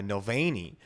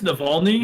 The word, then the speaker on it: Navalny: have figures like uh novani who led a a very uh more mulvaney right wait am i saying it right what is it no no i think it's navalny navalny well i'm not good